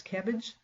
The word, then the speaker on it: CABG: bypass graft is cabg lots of people pronounce that as cabbage uh an synonymous term